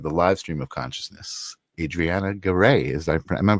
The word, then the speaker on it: Adrianna Garay: Welcome to the live stream of consciousness, Adriana Ger. Is I am I pronouncing that right?